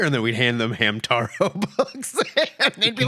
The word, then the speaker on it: Hamtaro: then we'd hand them Hamtaro books, and they'd be like, "Same thing." This isn't Naruto. And then my favorite thing was to mispronounce it Hema. Hamatro Yeah. and watch them freak out.